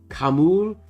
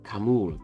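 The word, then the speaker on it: Khamûl: Kamul, Kim, and Keely.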